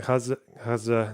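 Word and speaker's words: غزة: Isn't Kaza not even the Arabic pronunciation? No, it kind of is. Like the letter that they use is like a kind of very very soft G with an H.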